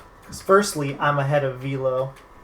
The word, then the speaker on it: Velo: Because firstly, I'm ahead of Velo. Like, screw you, Enox. His name is Velo, not Velo.